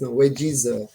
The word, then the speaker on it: Wagyz: Comment prononce-ton wages ? wes c'est c'est c'est c'est un anglicisme qui signifie wage salaire et easy.